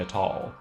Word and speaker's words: atoll: Atoll, stress on the first syllable."